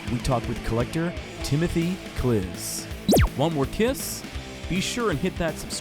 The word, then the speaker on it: Klisz: West of Detroit is Tim Klisz. Did I pronounce that right? That is correct. Tim, Klisz.